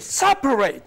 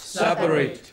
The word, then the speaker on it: separate: Okay, then words which are ending in ate. It is third syllable from the end that is to be stressed. Say complicate, complicate, complicate, complicate. Agitate. Communicate. Fortunate. Fortunate. Separate. Separate.